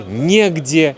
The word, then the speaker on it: негде: Ударение обычно падает на е. Некогда, негде, не с кем, незачем.